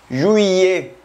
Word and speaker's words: juillet: Tenemos el mes de julio, que es juillet. Junio se pronuncia jue y julio se pronuncia juillet.